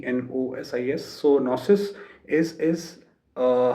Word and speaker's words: gnosis: that experience right so second is uh nosis so it it's spelled like g n o s i s so nosis is is